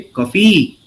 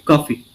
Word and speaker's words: coffee: For example, when you say coffee, you don't say coffee. You don't stress on the second syllable. You stress on the first syllable. We say coffee.